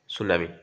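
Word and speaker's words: tsunami: write down on the causes and effects of সুনামি আমার টি ডাইট কনজি silent word রূপে রহি তাই না এস টু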